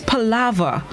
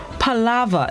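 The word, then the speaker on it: palaver: is this morning's word of the day is pallava palava it's spelled p-a-l-a-v-e-r it's pronounced pallava it's unknown which means profuse and idol talk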